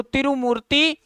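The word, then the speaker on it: Tirumurti: UN के जो India के परमानेंट रिप्रेजेंटेटिव है टीएस त्रिमूर्ति बोलते हैं उनको, उनका प्रोनाउंसिएशन ऐसे है, त्रि को त्रू बोलते हैं। तो त्रिमूर्ति ये इंडिया के परमानेंट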